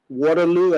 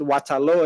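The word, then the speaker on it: Waterloo: fre toown Sierra Leon born in the village of waterl as others would pronounce it waalo as we pronounce it in Sierra Leon my mom was 11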